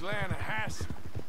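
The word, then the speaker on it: Lannahechee: But it's pronounced Lanahatchee.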